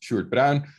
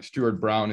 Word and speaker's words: Sjoerd Bruijn: My name is pronounced Sjoerd Bruijn. And I know you all butcher it, but that's okay. Something like Sjoerd Bruijn is fine as well.